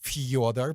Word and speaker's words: Fyodor: It's it's Fyodor, but you say it Fyodor probably, right? But it's actually Fyodor. Like Fjord? Yeah, but it's Fyodor. Okay.